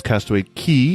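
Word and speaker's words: Castaway Cay: go to yeah and it is castaway key even though it is spelled CA Y K before we get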